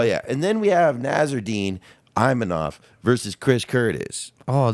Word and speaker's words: Nassourdine: Nassourdine, the French boy.